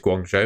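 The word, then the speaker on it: Guangzhou: that's pretty pretty cool I think it's Guang Joe is how you pronounce that three years nice one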